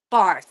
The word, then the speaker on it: Barth: Now, I don't want to pronounce it wrong, so can you pronounce it for me? Bar.